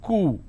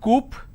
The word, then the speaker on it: coup: derivatives apartment disagreement dislodge c-o-u-p is coo it's not coop or kaup it's cool isolation quarantine gesture a